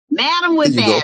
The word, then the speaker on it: Madamwhipass: Madamwhipass. Spell it like you say it.